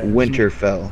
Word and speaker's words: Winterfell: am I saying it right this yeah okay Winterfell Winterfell okay because there's so many winter something